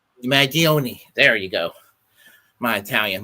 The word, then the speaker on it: Mangione: I certainly wouldn't have done what Luigi Maggi, I can never pronounce his last name. Mangione? Mangione.